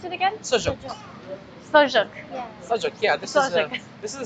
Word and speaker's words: sujuk: We call it sujuk. It's very How do you pronounce it again? Sujuk. Sojuk.